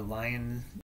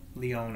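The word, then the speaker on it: Lyons: the East um the Council of Leon or a lion you know Leon I think is how it's pronounced l-y-o-n-s and then the other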